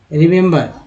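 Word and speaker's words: remember: पहला छोटी के रूप में, दूसरा ए के रूप में, तीसरा अ के रूप में। एक वर्ड मीनिंग में एक ई तीन तरह से उच्चारण हो रहा है।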